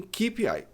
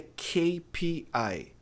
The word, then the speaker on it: KPI: Na hora de falar KPI, as pessoas dizem keep. Não todo mundo, mas uma boa parte. A pronúncia correta é KPI.